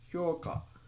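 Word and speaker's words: 評価: So what was the word for this hyoka? Evaluation assessment. And it's also ice cream with like the exact same pronunciation, right? And it's hyoka.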